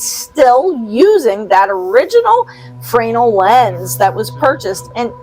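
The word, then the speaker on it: Fresnel: Lake Erie the original fral lens fral isn't that Fresno no it's not Fresno it's French it's pronounced fral we we whatever you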